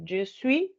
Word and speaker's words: je suis: Je suis, pero solo elimino la S.